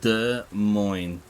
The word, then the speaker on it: Desmos: Uh, pronounce Desmos as the mo. Both the s letters are completely silent. The first syllable de sounds like duh or the without the th demon demon.